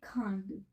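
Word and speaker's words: craindre: ठीक है, तो मैंने यहाँ पे वर्ब लिए खांड, इसको प्रोनाउंस खांड करते हैं।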